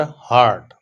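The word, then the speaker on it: heart: Number 13 है he cried as इफ he were हर्ट। हर्ट, लफ्ज हर्ट होता है और वो जो दिल होता है उसको हार्ट कहते हैं, करेक्ट प्रोनाउंसिएशन इसकी ये है।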